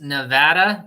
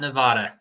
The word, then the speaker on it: Nevada: Rick say it again Nevada it's Nevada Nevada yes it's like uh tomato right no in the dictionary it has the mark over the a to to show that